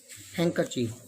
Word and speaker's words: handkerchief: see fourth one d d produces the sound of d handkerchief not handkerchief it's pronounced handkerchief when there is a and d d is always silent hankerchief romal head when there